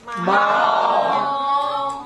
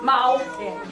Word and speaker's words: 猫: Mao. Mao.